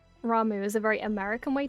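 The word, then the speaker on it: Ramuh: It's like, because it's spelled R-A-M-U-H, my British brain reads the U-H as an sound, so I always called him Rama, because I didn't know any better. Because I'd never heard it pronounced before, but then I realized later that people said Ramu.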